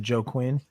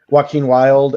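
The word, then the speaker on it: Joaquin Wilde: But they are now the LWO, which something Is it Joe Quinn? Chase. Yeah, Is it, those are the ones I butchered their names. Joaquin Wild and I just want to point that out real quick.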